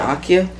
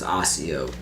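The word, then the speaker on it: Accio: Isn't it Akio? I've heard it both ways. Exactly. So I'm not sure. Well, whatever. When I first read it, I think I read it as Akio. And I think in the movies they say Akio. And then in Jim Dale, in the audiobooks, he says Asio.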